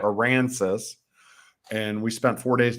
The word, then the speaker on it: Aransas: we went down to Port Aransas gonna say it right oh yeah Iran says and we spent four